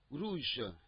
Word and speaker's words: rouge: Rouge. Rouge. It's not rouge like the way they pronounce in English.